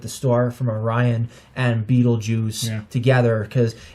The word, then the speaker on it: Betelgeuse: star from orion and beetlejuice together because it actually is pronounced as you know pretty much like saying like beetlejuice well it smells like